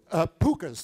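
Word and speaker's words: pooka: Pukas, they're called. You spell it, depending on where you are in Ireland, you spell it P-O-O-K-A, P-U-K-H-A, P-U-K-K-H-A, but however you spell it, it's pronounced puka.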